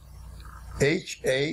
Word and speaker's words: handed: When verbs end in D or T, the ed ending is pronounced id, id, id. D. For example, the word hand. When hand is used as a verb, the past tense is written, H-A-N-D-E-D, but is pronounced handed, handed, handed.